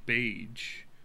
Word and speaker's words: Baige: pronouns are he him johnny beige yes like beige the color yeah it's like the color it rhymes with it or is that it rhymes with cage i like it i